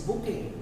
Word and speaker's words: bouquet: The pronunciation is bouquet.